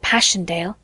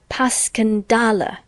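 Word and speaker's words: Passchendaele: Marant, it was so strange to hear you call it Passanddale. Why, if I may ask? because that's the way I pronounce it to myself. But I looked it up and it's more like puscandala.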